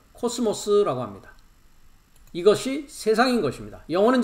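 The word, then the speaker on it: κόσμος: 오른쪽을 보시면 천하라고 하고 있는 것이 헬라어의 발음은 코스모스라고 합니다.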